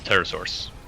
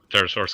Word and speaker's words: pterosaurs: would love to see pterosaurs because they are very amazing pterosaurs yeah like you know the biggest one was oh the size of a giraffe probably with a silent P P G oh yeah